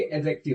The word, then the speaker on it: adjective: इसे पढ़ेंगे एडजेक्टिव। क्या पढ़ेंगे? एडजेक्टिव। इसको पढ़ेंगे एडजेक्टिव, क्योंकि यहाँ पर ये जो डी है ना वो साइलेंट होता है, किस चीज को आप ध्यान रखेंगे?